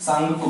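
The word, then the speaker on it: Tsangpo: सांगपो, आधा ग, शुरू में इंग्लिश में पढ़ेंगे तो टी लिखा होता है, टी साइलेंट होता है, इसे हम सांगपो कह सकते हैं।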